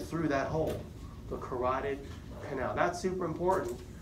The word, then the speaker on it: carotid: the carotid canal Carol did Howard spell is pronounced carotid spelled Carrollton no I but there is an